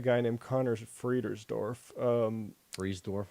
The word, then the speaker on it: Friedersdorf: with um a guy named connor friedersdorf um freeze dwarf right is that how you pronounce it um no i think no you're